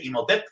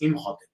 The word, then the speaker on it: Imhotep: Y bueno, pues también casi todo el mundo le dice Imhotep, ¿no? Porque pues en español pensamos que no se pronuncia el H, pero sabemos que el nombre original es Imhotep.